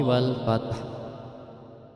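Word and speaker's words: والفتح: membacanya idza jaa nasrullahi wal fath. Fat, padahal itu di situ ada hak dan harus diperlihatkan. Nah, itu membacanya hak itu harus disukunkan. Wal fath, jadi ada suara hak matinya, wal fath.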